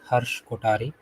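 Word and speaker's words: Harsh Kothari: today and yeah hello everyone my name is Harsh kotari so so it's not har uh har as it's mispronounced uh so I don't blame you and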